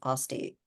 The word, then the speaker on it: Aste: Aste, even though it's pronounced Osti.